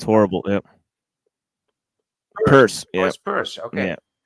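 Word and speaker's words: Peirce: p it's horrible yeah purse purse okay yeah yeah it's pronounced purse yeah it's horri yes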